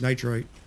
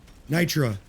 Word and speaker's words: Nitra: I don't want to get caught not having this nitrite. Nitra. I said it wrong again.